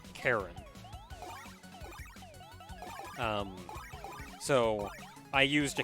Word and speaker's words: Charon: uh the greek spelling in the greek pronunciation it is pronounced karen um so i used